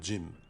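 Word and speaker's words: ج: La lettre Jim correspond à l'association d'un D suivi d'un J. On prononce J. C'est aussi l'équivalent du J du mot anglais Jin.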